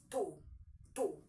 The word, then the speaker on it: tú: You in Spanish is tú. T-U, tú. Is pronounced as tú.